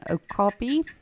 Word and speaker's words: okapi: There's this weird and mystical creature called an okapi. So it's spelled O-K-A-P-I, yes.